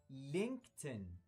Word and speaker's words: LinkedIn: يبقى الموقع ده اسمه لينكتن، لينكتن، لينكتن. تعالوا نشوف جمل عشان نطبق أكتر. لينكتن، لينكتن is a very useful website.